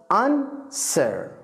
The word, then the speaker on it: answer: question الإجابة answer. answer نعم الدبليو لا ينطق هنا، ليست answer، لا answer.